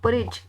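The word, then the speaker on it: porridge: में परज कहते हैं परज डी साइलेंट हो जाएगा नहीं पढ़ा जाएगा ठीक है परज खीर को इंग्लिश में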